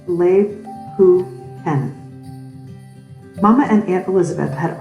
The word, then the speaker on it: Lebkuchen: These are called Lebkuchen houses, pronounced Lebkuchen.